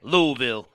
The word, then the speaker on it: Louisville: recorded in louisville louisville louisville you got to say it correctly louisville yeah there's no s yeah yeah yeah well